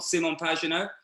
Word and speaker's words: Pagenaud: So the IndyCar is, I say Simon Pagenaud, because that's his name.